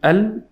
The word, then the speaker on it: الملك: Lam got the sukoon letter. Lam is a sukoon here. So I have to say al-mulku. How do I give time to the sukoon letters?